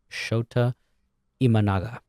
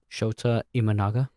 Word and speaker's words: Shota Imanaga: pronounced Shota Imanaga, Oh, okay.